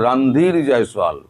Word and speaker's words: রণধীর জয়সওয়াল: ভারত বলেছে রণধীর জয়সওয়াল, আপনারা ভুল উচ্চারণ করেন, ওনার নাম হচ্ছে রণধীর জয়সওয়াল, রণধীর নয়।